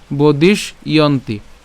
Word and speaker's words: বদিষ্যন্তি: এরপর বদিষ্যন্তি, তো আমরা এটার ক্ষেত্রে উচ্চারণ যেভাবে করব সেটা হচ্ছে এই বদিশ পর্যন্ত উচ্চারণ করছি, অর্থাৎ মূর্ধন্যস পর্যন্ত উচ্চারণ করছি। কেন? কারণ এখানে আবার জফলা আছে। এই জফলার জন্য আমরা জফলার উচ্চারণ যেহেতু ইয়র মতো করছি, তাহলে আমরা ইয়ন্তি। ঠিক আছে, বদিশ ইয়ন্তি, বদিশ ইয়ন্তি, একদম সহজ।